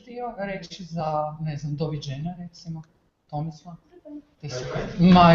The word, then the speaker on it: doviđenja: On Croatian, when we say goodbye, we say doviđenja. Can you pronounce that?